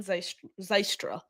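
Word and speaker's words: Zylstra: If the Lions don't tender RFA tight end Shane Zystra is how you say it.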